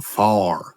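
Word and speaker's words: fire: These things, they got some far. Some what? Some far. yes. F-I-R-E. Far. That's how they say it in West Virginia.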